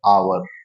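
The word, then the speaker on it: hour: पर एक वर्ड है आवर देखा आवर जो वर्ड है इसमें एच साइलेंट है है तो ये कंसोनेंट है लेकिन ये साइलेंट है इसकी आवाज नहीं आ रही है इसलिए य आर्टिकल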